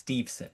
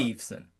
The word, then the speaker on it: Steveson: There is no N after the VE in it. It's Steveson. This is a So common that's one. Gable There you go. Steveson.